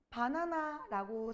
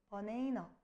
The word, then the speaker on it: banana: 바나나라고 쓰기는 써. 근데 이거 어떻게 읽어 얘들아? 실제 영어 원음 발음이 뭐야? 버네이너 이렇게 읽어야 되죠.